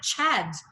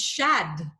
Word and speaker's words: Shad: I said Chad, but apparently his name is Shad.